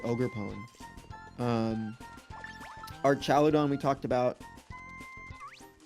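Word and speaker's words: Ogerpon: pchegeist then I think we have to say ogre pone um archaladon we talked about okay hydrappel hydra or hydra Apple.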